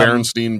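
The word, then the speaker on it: Berenstain: It's like literally Baron. It's like stain coffee stain bears.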